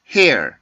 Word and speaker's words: hair: 그 끝에 보면 R 발음에서 울림 소리가 있죠. 그냥 hair 이런 소리가 아니고 hair 이라고 하는 조금 울림 소리를 가지고 있는데 이건 R 발음의 특징입니다.